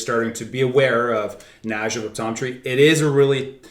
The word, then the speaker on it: Kniaziew: So we wanted to play off that as well, and it's something that it's pronounced Najev.